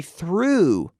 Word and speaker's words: threw: to throw yesterday I threw through now the pronunciation pronunciation yeah that's right the pronunciation here is the same as through as in at Levis